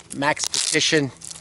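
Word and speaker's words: Maxpedition: Other than the excellent Max Petition, that's how you say it, sheath.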